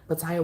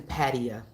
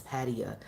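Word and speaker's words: Pattaya: best for me so butaya was so much it was so much it was it's actually Patia you don't say the eye part it's Patia is how they pronounce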